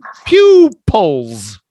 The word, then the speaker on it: pupils: it's not pupil it's pew pew Pewdiepie pupils it's just like PewDiePie people you can never put peoples or not it's possessive you can but we don't think people is plural right so it's like pull like people with this but it's Pew poles pupils and it's the same word we not word the same pronunciation as the pupil in our eye yeah is it the